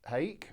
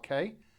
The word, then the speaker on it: hake: I'm going to use the large hake or hake, depending on how you want to pronounce it, and I'm going to thoroughly saturate this in the water and then get this really wet.